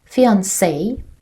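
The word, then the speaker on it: fiancée: Fiancé, a woman who is engaged to be married. Fiancé, a man who is engaged to be married. Pay attention that pronunciation is the same, but spelling is different.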